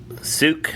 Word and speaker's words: Sooke: Now, from that, though, what we also did, though, is we drove out to Sook, so it's spelled Sooke.